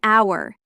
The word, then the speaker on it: hour: Yes, an hour. Even though hour starts with H, it sounds like it starts with O.